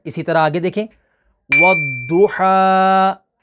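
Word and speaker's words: والضحى: इसी तरह आगे देखें, वद्दुहा, वद्दुहा, वद्दुहा। अब ये वद्दुहा, तो ये इसकी जो अदायगी है हरूफ मुस्तालिया की वो करेक्ट है, और वद्दुहा ये दाल के साथ हो जाता है, तो इस तरीके से इसको नहीं पढ़ना।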